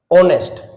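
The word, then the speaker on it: honest: ऑनेस्ट। ठीक है? इसमें एच साइलेंट है।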